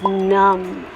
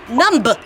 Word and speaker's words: numb: you mean that it's numb numb numb you don't need to say the b the B is silent so let's work on